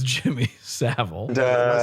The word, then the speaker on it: Savile: So Norm brings up, Stephen Merchant says there's a dildo in there, and Norm says it's Jimmy Savile.